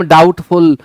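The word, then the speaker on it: doubt: डाउट में B silent है। सीख लें। कहीं भी अगर फाइनल टी और बी एक साथ आए हुए हैं और टी के पहले बी है। बी को नहीं पढ़ना है।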